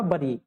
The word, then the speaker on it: bury: The word बरी is pronounced as, जो लिखा हुआ है ना BURY, इसको क्या पढ़ते हैं? वरी पढ़ते हैं। ठीक है, और जो ये लिखा हुआ है WORRY, इसको भी क्या पढ़ते हैं? वरी पढ़ते हैं। दोनों को पढ़ने का तरीका कैसा है? सेम है।